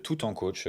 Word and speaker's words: Tout en Coach: Euh bah c'est très simple, on vous pouvez cliquer sur internet tout en coach comme ça se prononce.